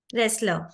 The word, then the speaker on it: wrestler: you pronounce this word restler wrestler so T is silent but the moment you